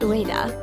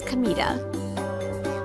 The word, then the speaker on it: Kamita: My name isn't Ua. It's Kamita. Same kanji, but read differently.